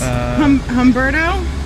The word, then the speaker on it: Humberto: of it, but it's Umberto. It's Umberto. How do you say his name? Let's see what it. See, there we go. Here we go. It's Humberto.